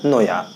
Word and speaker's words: Naoya: तो इसके राइटर सीगा नोया। यहाँ पे दोस्तों जो NAOYA है इसको आप नोया ही पढ़ें, ये अपने अपने प्रोनाउंसिएशन के अनुसार आप पढ़ सकते हैं।